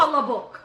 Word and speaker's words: Palabok: Palabok. The middle L is the most. There's the most inflection, the most involvement in the middle L. Palabok.